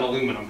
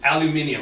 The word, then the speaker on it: aluminium: Boy, that works great on aluminum. I mean, aluminium, I'm sorry. I don't want to confuse you. While you're here, all five syllables will be pronounced.